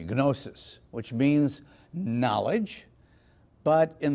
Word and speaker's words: gnosis: It's spelled Gnostic, but don't pronounce it that way. It comes from the Greek term gnosis. There you can use the hard G, gnosis, which means knowledge, but